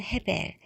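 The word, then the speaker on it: הבל: 주어졌습니다 다음에 태어난 것은 히브리 발음으로는 헤벨 즉 아입니다 그는 양이었다 아이라는 이름에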